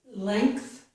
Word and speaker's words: length: Here are two more exceptions, the words length and strength. In these two words, which are both one-syllable words, we do have two sounds for the letters N, G. But this time, we have the sounds and K. We do not have and G.